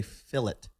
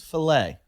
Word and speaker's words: filet: Australia and I say fill it like you guys say fillet of beef fill it a beef yeah but it's it's a French word it's filet oh right and you guys go fill it I don't care about